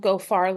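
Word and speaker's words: Geaux: And so this led us to this piece around Goar Louisiana. Um and you'll notice go is spelled the Louisiana way with the e aux.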